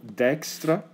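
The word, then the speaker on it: Dijkstra: a doch uh mathan called dexra that's how you say it in Dutch I don't know exactly how how it's how his name is nowadays pronounced in English so I'm going to keep saying dextra dexra algorithm and uh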